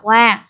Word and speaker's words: は: Nhưng khi chữ ha đóng vai trò là một trợ từ, chúng ta sẽ không đọc là ha mà đọc là wa.